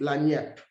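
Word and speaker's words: lagniappe: this this is is it is pronounced la niep which is you know l-a-g-n-i-a-p-p-e and you say it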